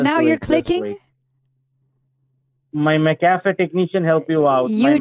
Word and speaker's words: McAfee: Is it McAfee? Oh, so the accent is on the F, McAfee.